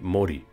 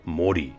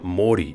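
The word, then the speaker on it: Mōri: the name was simply mori but would later be changed to make the o vowel elongated so that it would sound more like mori and although saying mori is the correct way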